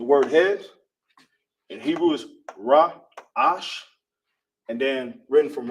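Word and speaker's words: ראש: This is the word head in uh Hebrew is pronounced raash.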